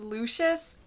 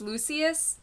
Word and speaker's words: Lucius: I Googled it before Lucius Fox I thought it was I thought it was Lucius but I I read online it's Lucius so yeah okay if